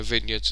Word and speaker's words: vineyards: the wineries the vineyards the vineyards yeah vineyards is the correct way to say it um the time to